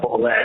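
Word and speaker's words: Bulleit: You drive straight to a liquor store and you buy a bottle of Bull Bourbon. I mean, I know it's pronounced Bullet, it's French or whatever, but everyone says Bull Bourbon for that evening to celebrate with your friends.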